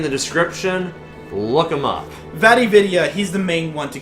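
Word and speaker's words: Vatividya: Vividia, he's the main one to go to for lore in the Souls series. Spell that out.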